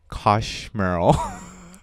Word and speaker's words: Koshmrl: special guest with us his name is Matt Kosh Merle correct very difficult to pronounce and he is a film director that